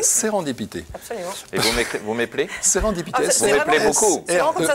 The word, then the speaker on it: sérendipité: Et vous m'appelez Sérendipité. Vous m'appelez beaucoup. C'est vraiment comme ça se prononce.